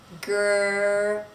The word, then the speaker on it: girl: So the R, the tongue is going to come and curl. However, the tongue does not touch anything when we make the R in English. It's just hanging out there in the mouth, but it's not touching the top of the mouth. Girl, girl. To make the L, you're going to put your tongue touching the area that's behind your teeth.